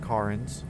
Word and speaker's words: Cairns: So, you can see there Tom uh confirmed that it is pronounced Kins.